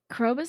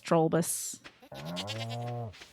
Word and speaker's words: Krobus: Krobus is a cutie. I just keep getting his name wrong. I keep thinking it's Trollbus. Brumbus.